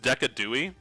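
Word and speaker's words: Decidueye: It's pronounced Decadi? That sounds stupid. I guess it's more fun to say though. Decadi, that's true.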